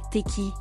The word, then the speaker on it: Tayc: Point de son véritable patronyme Julien Boadji, Taïk, qu'il faut prononcer « Teki », naît au cœur de la ville de Marseille dans les Bouches-du-Rhône.